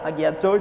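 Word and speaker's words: ἁγιάζω: Hagiazo itu cara bacanya.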